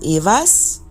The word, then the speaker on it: Eihwaz: today I'm talking about I was or also pronounce Eva's or Eva so this rune of